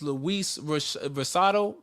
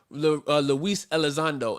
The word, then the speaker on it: Luis Elizondo: and the uh the the brother name is luis versado is that how you pronounce the last name luis alexander luis elizondo and he actually official yeah yes sir and